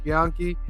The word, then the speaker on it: Bianchi: Bianchi.